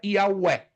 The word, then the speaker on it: Yahweh: A pronúncia mais aproximada seria Yahweh, ou Jeová, ou Javé.